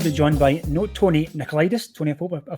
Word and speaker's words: Nicolaidis: And my name is, like you said, Tony Nicolaidis. You pronounced it just perfect.